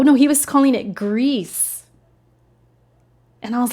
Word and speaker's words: Gris: I'm all for it so you do say it like grease huh well I'm still gonna probably call it Gris though he did pronounce